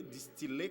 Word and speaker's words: distiller: Parce que nous tendons dire filles. Mais prononciation, c'est osciller, distiller, capillaire, comme dans tranquille.